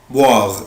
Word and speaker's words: boire: عود نفسك الاو اي او الاو اي بالانجلش بنطقها وا، boire يعني يشرب.